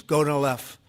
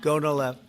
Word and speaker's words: Gonal-f: So it's Gonal-F. Is that a proper pronunciation? Very Close well enough, done. right? Very well done. Gonal-F.